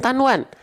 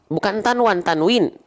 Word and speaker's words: tanwin: Bukan tanwan, tanwin.